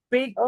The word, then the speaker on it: picture: Una sola cosa Acuérdate que las palabras que terminan en E no pronunciamos a E. En el caso de picture, para que nos suene así, gringoso, vamos a quitar esa E. Y la T, la C, perdón, la T y la U la vamos a pronunciar chu, chu.